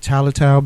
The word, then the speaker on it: Tylertown: In Pike, Michigan, my roots are Franklin, Tennessee, and Tylertown, Mississippi. Now, that's right. Understand, when we pronounce Tylertown, there's an R in the word somewhere. We just don't use it.